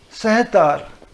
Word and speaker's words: sitar: Sarud, that is the actual pronunciation, Sarud. Like sitar is also Persian word. Sahtar.